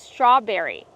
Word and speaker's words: strawberry: Kevin, how do we pronounce strawberry? Strawberry. We see the tr together making the ch- sound like train and truck together. Ch. Straw make the r sound with the voice. Not straw but straw.